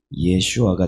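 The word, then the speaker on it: 예슈아: 땅으로 이끌고 가지 않습니까 여호수아도 신약적으로 발음하면 이에 슈아가 되기 때문입니다 언약적인 관점으로는 그렇다라는 것이죠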